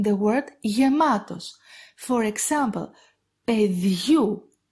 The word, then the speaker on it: παιδιού: The A sound of these diphthongs is pronounced like γου in the word γεμάτος. For example, παιδιού, παιδιού.